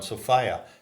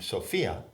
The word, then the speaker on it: Sophia: Sophia or the Aeon Sofia not to be pronounced like the woman's name Sophia so identified the a